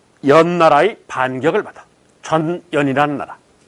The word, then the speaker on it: 전연: 그래서 이 나라를 이거 발음을 잘해야 돼. 전연이라는 나라야. 잘못하면 욕하는 줄 알아.